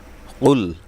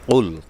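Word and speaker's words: قل: অর্থ পরিবর্তন হয়ে যাবে এজন্য আমরা খেয়াল করব যেন কফ বলার সময় অবশ্যই আমার গলার থেকে আসে জিহ্বার গোড়া তার বরাবর উপরে তালুর সাথে লাগবে তো কফ বলার সময় আমরা একটু খেয়াল করব কারণ এই কফলাম পেশকুল মানে হলো আপনি বলুন সম্বোধন করা হচ্ছে আপনি বলুন আর কাফলাম পেশকুল অর্থ হলো খাওয়া তো আসলে অর্থগতভাবে সম্পূর্ণ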